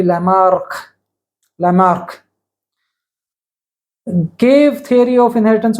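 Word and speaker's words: Lamarck: and Gene bapti Lamar Lamar is not M K it is m c so the pronunciation should be Lamar Lamar gave theory of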